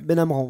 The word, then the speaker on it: Benamran: Benamran, voilà. Il le prononce comme ça, lui.